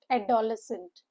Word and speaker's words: adolescent: The stress is on the third syllable and the syllables here are four. Adolescent. at the lesson. The O sound makes U H sound and the C E N T is u H N T.